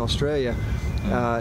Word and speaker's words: Australia: you're doing here in Australia. Did I say that right? Australia? Does that sound good? Not like a real Aussie. You got to drop the A to be a real Aussie.